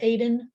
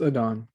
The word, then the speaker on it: Aidan: am i remembering that your name's not pronounced aiden it's a don sorry about that that's